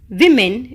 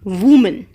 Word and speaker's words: women: Now children, when we pronounce women, it's not woman. WOMEN is not pronounced as woman, it is pronounced as women.